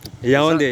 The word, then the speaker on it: Yaoundé: Yaoundé, yes, that's the right capital. way Good. to pronounce it.